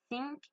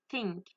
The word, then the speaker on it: think: La première, je l'ai mal dit, parce que j'ai pas mis ma langue entre mes dents. Et la deuxième, j'ai mis ma langue entre mes dents. Du coup, j'ai réussi à la prononcer. Donc, on entend bien la différence entre think, think.